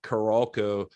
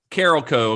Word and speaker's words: Carolco: uh or carolco uh it's caral co according to everyone that I've heard say it I didn't know for years how to say it until I was watching behind the scenes on this and that it's apparently Carol Co Carol co uh so